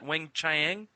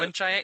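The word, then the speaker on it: Weng-Chiang: mispronunciations. I've been figuring out how to say the talons of what is it? Wang Chiang. That's it. You got it. You got it. Wang Chiang.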